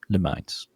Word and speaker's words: Lumines: It's a measurement of light. Lumen with an ES lumines.